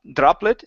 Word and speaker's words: droplet: a look here uh give me a good Dr sound here instead of drop droplet it's droplet droplet okay so the water